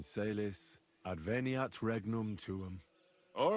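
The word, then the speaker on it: caelis: Pater Noster, qui is in careless, sanctif advent... Your turn. You're saying it wrong. Listen. It goes like this. Pater Noster, qui es in celis, adveniat regnum tuum.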